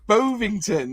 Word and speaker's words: Bovington: Bovington. I got it right. Yeah. Like Bovington.